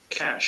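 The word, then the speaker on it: cache: Cash. சார் கேட்ச் கேட்ச் கேட்ச். நம்ம காசு, பணத்தை எப்படி கேஷ்னு சொல்றோம், அந்த கேஷ் தான். அங்க எப்படி ஸ்வீட் சொன்னோம், அதே ஸ்வீட் தான் இங்க.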